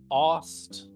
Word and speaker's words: Oust: wrong yeah so uh oust that's your name right it's pronounced aust right right right and no